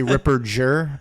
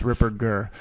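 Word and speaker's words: Ripperger: rer rer you got a lot of people do a soft G they say Ripper Jer but it's it's a hard G it's Ripper G so you got that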